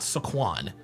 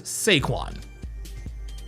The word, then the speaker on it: Saquon: His name is not Saquan. His name is Seaquan.